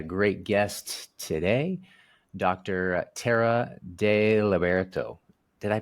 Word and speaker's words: Deliberto: I have a great guest today Dr terara de lberto did I pronounce that right I was trying yeah yeah